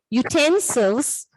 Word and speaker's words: utensils: Those words are, the word may begin with a vowel letter U, but it may have a consonant sound of YU. Those words are unicorn, useful, utensils, all these other words.